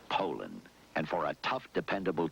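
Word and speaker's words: Poulan: and in Poland and for over 30 years they've been mispronouncing our name so we'd like to remind you that our name is Poland and for a tough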